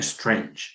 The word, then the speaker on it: strange: A strange strange. It's like two syllables. It's not more than that.